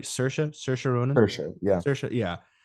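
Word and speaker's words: Saoirse: and emotional roller coaster of a movie yeah sersa kills every single time whatever whatever she's so good and I'm saying it right sersa sersa Ronin yeah sersa yeah she she hides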